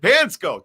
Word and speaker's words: Panczko: about the pansco brothers that's how they say it's how it said pansco thank you pansco why